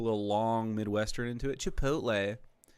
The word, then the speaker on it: chipotle: Just look at how it's spelled. Please, all Caucasians, just take the time. Chipotle. Uh, you know, you had to say, you say it flat as Chipotle.